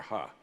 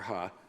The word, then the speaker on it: He: Done, of course, rather quietly, because they recognized, and I believe he pronounces it Dr. Ha. Yeah, but sure. That's how he pronounces his name. Okay, Dr. Ha.